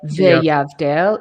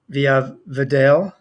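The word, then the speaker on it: ויבדל: So it wouldn't be Veyavdel, it would be V'yavdel.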